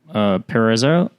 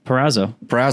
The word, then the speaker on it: Perazzo: So next up on the Rooster Endo, it's going to be a submission from Joseph Perezzo. Wow, really? Try again. Come on, keep going. Perazzo.